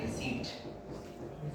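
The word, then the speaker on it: receipt: यस नो ध्यान दीजिएगा इसमें प क्या होता है गाइस साइलेंट होता है तो आपको इसको बोलना चाहिए रिसीप्ट क्या बोलेंगे रिसीप्ट रिसीप्ट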